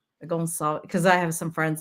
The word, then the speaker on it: Gonçalves: Gonçalves. Oh, I meant to ask. I usually ask, am I pronouncing it right?